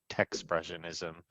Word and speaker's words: Techspressionism: A lot of people add that extra syllable in there, like tech expression, but it's really just expressionism with a T, so Techspressionism.